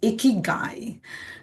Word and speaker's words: Ikigai: But the reason to talk about the icky guy. Um we can also say iicky. So we have to learn to pronounce it's a Japanese concept. It's called icky guy, you know, which means